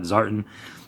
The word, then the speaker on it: Zartan: I believe that's how the diehards, G.I. Joe fans pronounce that, Zartan.